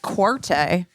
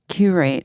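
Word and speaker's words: Qurate: Is that how you pronounce it? Like curate? Because it's like, curate. It looks like Quarte to me.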